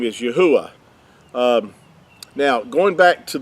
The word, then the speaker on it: Yah: Yah is how you would pronounce these first two letters right here. The word yah is how the first two letters of the creator's name are pronounced. They're not ye, they're yah.